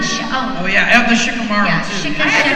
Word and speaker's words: Shikamaru: But I had to go back, and so this one Japanese consultant said, no, you don't say it Shikamaru, you say Shikamaru.